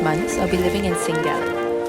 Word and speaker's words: Sankt Gallen: So for the next 5 months, I'll be living in St. Gallen. Or maybe the more accurate pronunciation is St. Gallen, which is a canton right on the edge of Switzerland, about an hour from Germany.